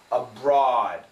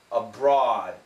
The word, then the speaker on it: abroad: abroad overseas other countries Now in America this is an aw sound which is like that abroad abroad her pronunciation sounds a